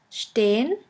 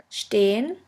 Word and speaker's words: stehen: The next letter combination is SP, SP, ST, ST, which is pronounced like the letter combination SHP and SHT. Let's have a look at the examples. The first word is sprechen, sprechen, which means to speak, and the second one is stehen, stehen, which means to stand.